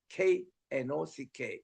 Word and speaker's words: knock: 그러면 그리고 문을 두드려 할 때는 낙킹 할 때 우리 문을 두드려 할 때는 K가 그게 묵음이더라고요. 그래서는 KNOCK 이랬는데 영어로서는 앞에 구하라 ask, 찾으라 seek, 문을 두드려 K, knock 이거를 첫자 ASK를 합치면 그게 ask가 된다.